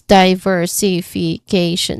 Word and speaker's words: diversification: There's six six distinct sounds among which the first and the fifth syllable is the stressed part. So, diversification. Diversification. Okay, diversification. All right, that's the first one. So, the longer word with multip This is a longer word with multiple stresses. So, diversification. The stress is on K.